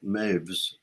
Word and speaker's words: Moevs: But then when I studied, I met this Robert Maves. His name is spelled Moevs, and he was my harmony teacher at Harvard.